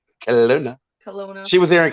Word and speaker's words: Kona: I always got to get the pronunciation right. Kona.